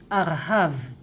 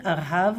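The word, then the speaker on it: ארהב: In Hebrew, we use Gershayim, always Gershayim, and we also pronounce it like Arhav. Of course, you can say Artzot Habrit, right? The United States of America, Artzot Habrit. And the short version, Arhav with Gershayim, Arhav, right?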